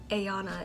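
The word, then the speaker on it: Aanna: I pronounced it Ayanna instead of Anna.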